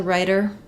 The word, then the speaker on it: rider: most important thing is you want to use a flap sound uh and they should sound pretty much the same this one is a little bit longer here this one's a little bit shorter here okay then when we